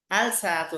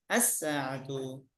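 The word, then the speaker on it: الساعةُ: আল সাআতু হবে না, কি হবে? আস-সাআতু।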